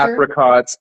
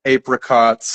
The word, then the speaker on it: apricots: English also has a lot of words with multiple accepted pronunciations, like either, either, Yeah, it's true. apricots, apricots, Uh-huh.